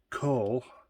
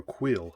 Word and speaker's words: Kuiil: be asking why is coal bent like that well or quill i should say his name is quill excuse me why is